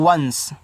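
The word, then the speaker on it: once: आगे ओ एन सी ई तो इसको पढ़ते हैं वंस।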